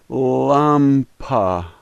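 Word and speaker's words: лампа: like our a and so this word is lumpa Lumpa Lumpa the first letter is pet pronounce like our p the second letter is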